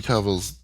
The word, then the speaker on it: Cavill: Henry Cavillio's I forgot how to say his last name. Superman. Henry Cavill? Thank you. Henry Cavill's got pictures of.